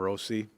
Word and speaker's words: Rossi: just this whole uh Marco Rossi pronouncing his name Rosie just having that change late in the season that was just another